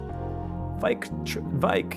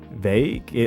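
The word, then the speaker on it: Vaike: Vike, it's Vike, right? I think that's how you say it. I once said perchance. That's funny though. That's funny. Saying perchance is funny. Is it Vake? I say Vike, but is it Vake? Vake? Oh, it's Vake. Enter the Vake. I've always pronounced it as Vike, but we'll go Vake. Vake tried to do 5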